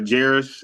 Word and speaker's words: Jarus: Uh Jarus. It's just like Paris but with a J.